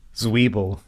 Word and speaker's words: Zwiebel: So I remember the word Zwiebel, which is onions, so I can avoid that on menus. That's the big thing. So. What's how do you say onions? Zwiebel.